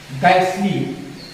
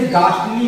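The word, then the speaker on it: ghastly: एक होता है हमारा गैसली, गैसली, यहाँ गैसली पढ़ने से ये ना एच का उच्चारण हमें देखने को मिल रहा है, ना ही हमें टी का उच्चारण देखने को मिल रहा है। लेकिन दूसरा इसका जो उच्चारण है इसे गास्टली भी पढ़ते हैं, गास्टली।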